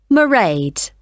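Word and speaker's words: Mairead: be working then so you'll see my assistant marade sorry how do you spell that it's m a i r e a d marade okay got that it's not a name I'm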